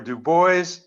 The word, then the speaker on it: Dubois: workshop process on that there's a split between uh folks in my family but i usually go with dubois thank you everybody you